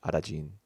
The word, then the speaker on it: Arajin: that's where Arajin's name comes from, is the Japanese pronunciation of Aladdin, Yep, Aladdin, yep. Arajin.